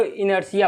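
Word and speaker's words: inertia: इनर्जिया कहते हैं कि इसकी स्पेलिंग पर आइए नहीं यार टीआईए इसके इसको इनर्टिया पढ़ा जाता है तो जड़ तो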